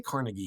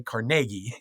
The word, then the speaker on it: Carnegie: And you know, we don't say Carnegie here. We say CargI.